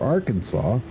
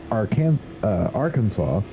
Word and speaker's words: Arkansas: However, it was the French version, Arkansas, that became the basis for the eventual state name. In French, the final plural S is not pronounced.